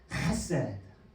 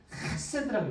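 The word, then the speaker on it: חֶסֶד: 헤세드.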